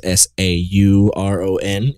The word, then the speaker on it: Sauron: I pronounce it Sauron instead of Sauron. I see it as S-A-U-R-O-N, Sauron to me. And I believe that's actually how you properly say his name.